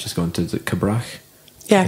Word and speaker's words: Cabrach: You know, people at North Uist, I'm not that sure to pronounce the one that Ewan's just gone to, is it Cabrach? Yeah, Cabrach.